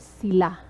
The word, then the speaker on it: sila: They is sila. Sila. Notice the stress. The stress is very important. Sila. So the stress is at the second syllable.